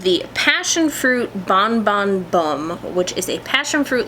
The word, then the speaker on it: Bum: name huh and Columbia the word bum is pronounced like boom oh who knew referring